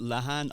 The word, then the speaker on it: Lehane: I go with Lehane. I've heard Lehane. Lehane. I've got cousins in America and they pronounce it Lehane.